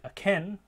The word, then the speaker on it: akin: So a word like akin, where we have stress on that final syllable, akin, we get aspiration, but in a word like aching, there's less or even no aspiration.